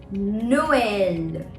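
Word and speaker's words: Noël: a look at it Noel Noel as you can see I am pronouncing o and E separately because of trema because of the two dots over the E so we pronounce it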